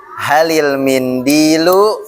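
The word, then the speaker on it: هل المنديل: Nah, hal almindilu hal ketemu alif lam itu jadi apa bacanya? Halil. Halil mindu gitu ya.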